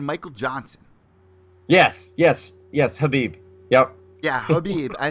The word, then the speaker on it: Khabib: but well you guys Habib just with an H abib yeah the K is silent it's a well it's